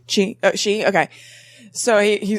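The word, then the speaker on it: Xi: was eating with President, how do you pronounce X-I? She.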